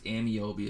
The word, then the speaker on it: Ameobi: Just in case you're wondering too, it's Ameobi is how you pronounce that.